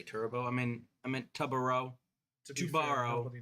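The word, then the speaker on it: Tubarão: I meant Tubaro. To be fair, Tubaro. nobody knows how to pronounce the name right now. Yeah. Tubaro. I've heard like Tubarao, Tubarao.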